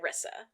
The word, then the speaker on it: Rissa: pronounced it Rissa. Rissa? I said Risa. Rissa makes more sense because of Larissa.